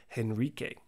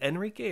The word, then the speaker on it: Henrique: And next, no surprise and no stranger to this channel, is Boaz Oliveira, or Boaz HENRIQUE. Is it Enrique or Henrique? I think the H is silent, right?